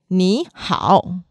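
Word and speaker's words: 你好: So to say this very specifically and accurately is ni hao, hao.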